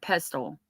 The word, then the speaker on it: pestle: I believe the tea is silent in the word pestle. Pedal. Pestle. Pestle. H. I probably am saying it wrong.